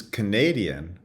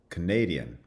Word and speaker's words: Canadian: So we talked about the contrast between Canada, which has a full vowel in the first syllable, and then schwas in the second two, Canada, versus Canadian, where the stress shifts onto the second syllable, and the first syllable now has the schwa, Canadian.